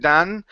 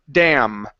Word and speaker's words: dam: Make sure that your lips are coming together for the M sound, because it sounded like you just said an N instead of big dan. It's dam.